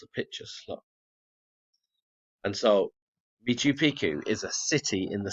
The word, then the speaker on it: Machu Picchu: In fact, the name Miku Picchu means old mountain. Machu Picchu said it wrong.